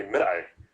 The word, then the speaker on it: Midai: It's really Midai, and Midai is how you say it in Arabic.